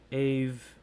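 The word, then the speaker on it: Aave: So you have the likes of BNB, BTC, AVE, or Ave, depending on how you want to pronounce it.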